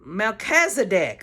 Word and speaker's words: Melchizedek: I don't know how to say it um Melchizedek okay I said it right that time priesthood